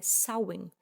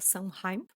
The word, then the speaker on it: Samhain: antigo festival celta chamado Shahi, celebrado principalmente na Europa do Norte. A pronúncia correta é sen ou alguma coisa bem perto disso. Vou pedir licença para vocês para continuar pronunciando Sunheim, porque nós como brasileiros